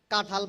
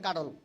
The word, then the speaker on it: কাঁঠাল: কাঁঠাল পড়ায়, লেখেও কাঁঠাল, উচ্চারণ করে কাটল।